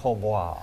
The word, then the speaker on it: hautbois: You learn, and I think it's actually pronounced hautbois. Hautbois. But that seemed a little snooty for here in the Yeah, tri-state, so hot boy it is.